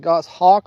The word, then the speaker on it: goshawk: was saying it wrong I'm saying goic but it's actually Goss Hawk like the bird all right we're going